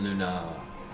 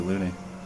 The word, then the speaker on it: Looney: She's been Luna, or Lune, or some shit in my head. I'm sure I heard it said out loud. It's totally Looney.